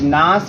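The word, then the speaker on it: Nash: इक्वि बियम ठीक है कुछ लोग नेस भी बोलते हैं बट एक्चुअल में इसका प्रोनाउंस नास होता है और ये आपके अमेरिकन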